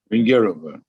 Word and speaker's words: Vengerova: Rudolf Sturkin and Vladimir Horowitz, and correct my pronunciation, Isabella Vengerova or Vengerova? Vingerova. Vengerova.